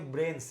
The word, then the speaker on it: Branes: Makanya namanya harusnya dibacanya Brains ya. Oh, Tapi karena Brains. kita di Indonesia jadinya Branes.